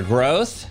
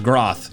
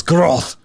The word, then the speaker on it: Groth: That is how you say my last name, though. That is what I actually end up saying in the video. It's a German last name. It's not Groth, it is Groth.